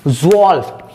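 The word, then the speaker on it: zwölf: ज़्वॉल्फ, जो, आपने जो ऑल्फ, ये भले ही ये स्पेलिंग, लेकिन यहां से आपको ज्यादा जल्दी याद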